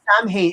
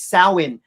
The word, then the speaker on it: Samhain: Yes, and it's not pronounced Samhain. It's Samhain.